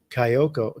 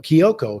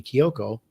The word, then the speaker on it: Kiyoko: Though there is a very very important fourth character named Kyoko, Kiyoko, excuse me. Kiyoko, let me pronounce that properly.